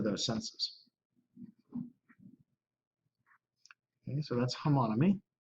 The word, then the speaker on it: homonymy: polysemy and how do you pronounce this? Homonymy.